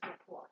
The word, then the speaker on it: LaCroix: If I pronounce it in French, it's LaCroix.